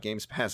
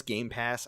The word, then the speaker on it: Game Pass: also i want some i refuse to say it correctly sometimes i know it's game pass i like saying games pass rolls off the tongue i think better yes